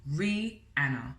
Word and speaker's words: Rihanna: Hello, my name is Rihanna and that is pronounced Rihanna phonetically. The reason why I'm even